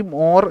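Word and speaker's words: More: ഇംഗ്ലണ്ടുകാരനാണ് Thomas മോറിന്റെ utopia അപ്പോ ഈ മോർ എന്ന് പറയുന്നത് സത്യം പറഞ്ഞാൽ മോർ എന്നാണ് ഓക്കേ മലയാളം കൂടി ഞാൻവിടെ കൊടുത്തിരിക്കുന്നത് ഇത് വായിക്കുമ്പോൾ നമ്മൾ വായിച്ചെടുക്കുന്ന ഉച്ചാരണം അല്ല മലയാളത്തിൽ തോമസ് എംഓ ആർ സാധാരണ നമ്മൾ മോർ എന്ന് വായിക്കും അത് മൂർ എന്നാണ് കണ്ടോ മോർ എന്നാലും ഞാൻ അതിനെ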